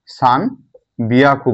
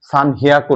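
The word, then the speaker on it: さんびゃく: 300 মানে কি 300কে সান বিয়াকু বলা হয়, বিয়াকু। এটা একটু ব্যতিক্রম, সান হিয়াকু না, কি বলা হয় সান বিয়াকু। এটা উচ্চারণটা হবে কি সান বিয়াকু না সান বিয়াকু।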